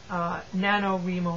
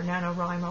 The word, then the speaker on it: NaNoWriMo: Angie also wants to know, what do you think of NaNoWriMo or NaNoWriMo, I think some people pronounce it, National Novel Writing Month.